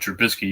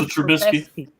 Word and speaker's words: Trubisky: That was the last appearance with Trubisky, yeah.